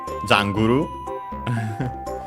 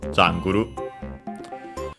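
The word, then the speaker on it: ジャングル: It says Janguru no kawa no soba ni 誰が植えたのか、ポケモンによく似た木が立っておる。First and foremost, we have jungle, which of course comes from English, jungle, accented luckily on the first syllable as expected, so jungle.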